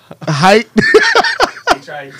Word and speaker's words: Hite: height H-I-T-E. HITE. Cerveza spelled with an X.